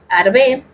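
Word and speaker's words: ארבה: Nos menciona la escritura que para la palabra langosta, que se pronuncia arbe, que significa también nefilim, y ahora vamos a ver eso después, más adelante.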